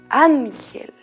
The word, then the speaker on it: ángel: La palabra ángel. Los angelitos también tienen acento en su nombre. ¿En la vocal? Muy bien, en la vocal A.